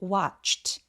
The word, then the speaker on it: watched: 여기서 watch의 아 소리는 매우 길어서 watched over라고 발음해 주시는데요. 여기 watched 아니고 watched. 이 ch처럼 성대가 울리지 않는 무성음으로 끝나는 동사 원형은 ed가 붙으면 t로 발음이 됩니다.